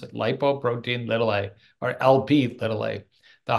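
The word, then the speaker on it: lipoprotein(a): you can see that it's lipoprotein ltil that's actually how you pronounce it lipoprotein ltil a or LP ltil a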